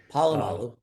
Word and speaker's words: Polamalu: Well, a couple of USC guys, Troy Polamalu, who's and probably didn't pronounce that right. Polamalu, you're good.